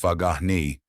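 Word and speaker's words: Faghani: The Australian Iranian referee Alera Fagani pronounced Fagahi initially played on.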